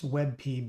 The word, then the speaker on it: WebP: or a wey or it's webp but pronounce web but any case you'll